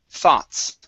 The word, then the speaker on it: thoughts: Okay, so we have two different types of THs here. We have a voiced TH, those, and an unvoiced, thoughts.